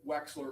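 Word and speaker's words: Wechsler: That would be the waste the Wexler adult intelligence scale.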